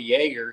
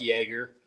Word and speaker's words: Jaeger: The only thing that I might have not been totally true on the song is about the Jaeger because I don't like Jaeger, Mm. but it rhymes with troublemaker.